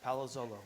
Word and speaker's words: Palazzolo: So, your last name is pronounced, bear with me here, Palazzolo? That's pretty good. Yeah, Palazzolo.